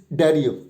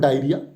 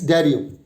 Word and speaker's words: diarrhea: It means the stress will not be on the first syllable. Da-a-re. This is the pronunciation. This is the stressable syllable. It's diarrhea. It's not diarrhea. It's diarrhea.